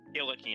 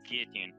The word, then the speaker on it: guillotine: guillotine instead but anyway god i hate it when people pronounce it guillotine it's guillotine get it right guillotine you go to